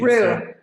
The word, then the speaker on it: Rhyu: How do you pronounce last name? It's Rue.